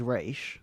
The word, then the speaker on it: Ra's: because I always because I always thought it was Ra's al Ghul and then I found out that it was race yeah or someone said